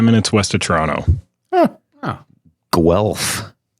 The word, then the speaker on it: Guelph: you coming from from tonight i am in guelph ontario which is about 45 minutes west of toronto oh guelph guelph could you spell that it's g u g-u-e-l-p-h